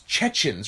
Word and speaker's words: Chechens: Sorry, I'm saying it wrong. It's Chechens, right? Even though it's Chechnya. Yeah, it's Chechens. It's Chechnya. Yeah. They should be Chechnyans, Yeah. but they are Chechens.